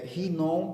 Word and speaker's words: Hinom: vale do filho de hinom di e nome é dependendo do jeito que você quer pronunciar mas vamos colocar rinom porque é mais fiel a pronúncia é original então vale do filho